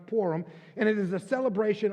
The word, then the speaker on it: Purim: It's pronounced different ways with those with different accents, but it's pronounced PURIM.